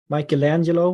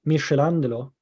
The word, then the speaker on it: Michelangelo: I mean, Michelangelo, we say, or I said when I was a kid, Michelangelo. So Michelangelo with a soft C sound instead.